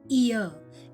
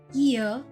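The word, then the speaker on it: year: ईयर की spelling शुरू होती है वाई से और सुनने में ऐसा लगता है जैसे इसका उच्चारण है ईयर, लेकिन इसका सही उच्चारण ईयर, जिसमें वाई का उच्चारण य है और यह य एक कॉन्सोनेंट साउंड है।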